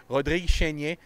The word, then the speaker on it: Rodrigue Chénier: Keep an eye on Rodrigue Chénier. I'm saying it in French because they always butcher it in English.